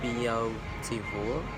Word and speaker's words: beautiful: but we don't say beautiful, we say beautiful. So the E, A, and U is only one syllable and count as only one vowel sound. So we say beautiful, not beautiful.